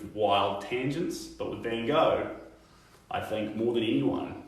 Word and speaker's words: Van Gogh: podcast, the stream before, Van Gogh's name is Van, so Van and Gogh. Van Gogh. And that's how you say it in Dutch, Van Gogh, correct me if I'm wrong. And then in America you'd say Van Gogh.